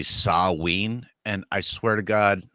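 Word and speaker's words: Samhain: Sam Hayne uh so the like proper pronunciation of that is actually saween and I swear to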